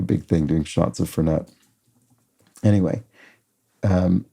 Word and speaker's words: Fernet: would be uh fernet fernet branco um or is it fern I've always heard it pronounced fernette even though I think it's fernet I think it's fernet